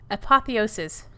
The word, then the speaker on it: apotheosis: am so sorry in advance i'm really sorry apotheosis nailed it to the people of the galaxy